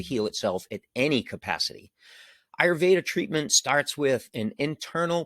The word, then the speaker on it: Ayurveda: go to the next one it comes from ayurveda and i put the pronunciation there in case you ever see that word you know how to pronounce that but it's pronounced ayurveda and it is the traditional hindu system of